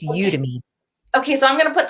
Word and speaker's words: Udemy: as a course on you you is it you demi are you udemy how do i pronounce that i've always said you to me you to me okay so it's odd to